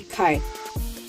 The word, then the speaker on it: Chi: work in Kai limited yeah I know it's pronounced Chi limited but the pronunciation is actually Kai and their um salary range for a food